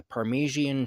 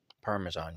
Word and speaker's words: Parmesan: I've just put the Parmesian cheese. Parmesan cheese. I know. I just like to mispronounce things cuz I think it's funny.